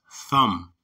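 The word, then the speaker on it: תם: is H 8,535 thumb though it says Tam right there the real pronunciation is thumb okay and it means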